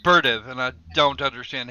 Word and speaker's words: Berdyev: with the bdev but apparently he supposed to be pronounced berv and I don't understand